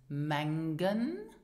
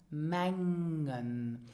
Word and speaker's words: mengen: Would you pronounce this mengen or mengen? It is pronounced mengen. So here you have the eng sound. So the letter g is actually not really pronounced.